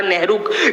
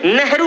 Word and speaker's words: नहर: मुगल की प्रोनन्सिएशन गलत थी। वो नहर को नेहर बोलते थे और नहर के किनारे रहने वाले लोगों को नेहरू कहा जाता था।